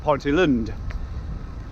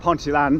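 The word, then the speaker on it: Ponteland: so i'm headed over to uh ponte land now which i'm i've already been told actually he's pronounced ponte lund not ponte land as in mario land or diggerland apparently it's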